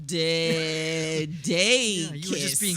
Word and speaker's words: DeDakis: I would say it the same way, only a little faster. I'd say DeDakis. Oh, DeDakis.